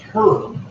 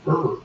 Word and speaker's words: herb: I wonder why over in England you pronounce herb, but here in the United States it's herb. Why do we have a silent H?